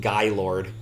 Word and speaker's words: Gaylord: pick up is the the name that you would read as Gaylord is supposed to be pronounced guy Lord not really sure why